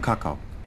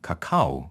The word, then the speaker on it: kakao: Jaz bom kakao. In this case, putting emphasis on the second part of the word, kakao, is hot chocolate. Emphasizing the first part, kakao, is announcing that you're going to crap.